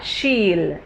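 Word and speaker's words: she'll: इसका जो प्रोनाउंसिएशन होगा वो होगा शील, लेकिन जब ये दो वर्ड्स को हम एक्सपैंड करते हैं तो बनेगा शी विल.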